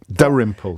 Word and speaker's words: Dalrymple: Dalrymple, the L is silent.